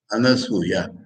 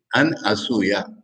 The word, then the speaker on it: अनसूया: अनेक समय मराठी देशे तो खूप শুনেছি, হিন্দি দেশে, বাংলায় हो, উচ্চারণে গোলমাল হয়ে যায়। अनुसया अनुसया বলে, সেখানে अनुसयाর কোনো মিনিং হবে না। अन असूया, নতে উকার নেই, সুতে উকার আছে।